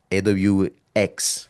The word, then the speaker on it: AWX: Okay, I make sure to pronounce that very carefully so people don't think I say AWS. AWX like Xavier X.